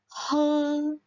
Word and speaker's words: 喝: Nah, jadi minum adalah he. Ingat ya, nada satu.